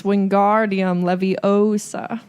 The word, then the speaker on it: Wingardium Leviosa: heard Hermione snap and it's Wingardium Leviosa made the GAR nice and lone and Ron is super